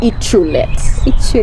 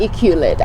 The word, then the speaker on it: Iculet: during the show so my name is actually eatroulette yes so it's not equilibrium i know you want me